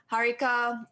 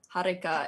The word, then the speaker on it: Harika: I usually pronounce it Harika with a small R, like a small rolled R, but I'm not entirely sure if you're supposed to roll the R.